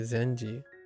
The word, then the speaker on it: 禅寺: If you put this word onto the end of the name of a Zendara, the pronunciation changes to Zenji.